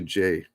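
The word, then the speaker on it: Ghey: So last week in the UK, the Brianna Gay case came back. I might be pronouncing her last name. From what I understand, it's actually Jay.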